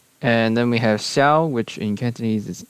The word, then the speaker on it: Xiao: And so Japanese borrowed it as an aspirated K. And then we have Xiao, which in Cantonese is Xiu, Xiu.